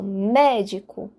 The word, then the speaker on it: médico: a própria palavra proparoxítono reparem médico de trás pra frente eu tenho a última sílaba com o co a penúltima sílaba o di e a antepenúltima uma sílaba o mé e é o mé que eu enfatizo médico